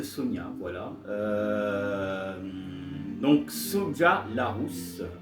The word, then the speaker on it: Sonja: et prononcé raid de Sonia.